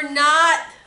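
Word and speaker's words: knot: N is for not. There's a K in front of it.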